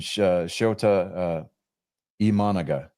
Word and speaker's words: Shota Imanaga: Jackson Chourio from the Brewers got 26 third place votes, and Shota Imanaga, that's how he pronounced his name, from the Cubs.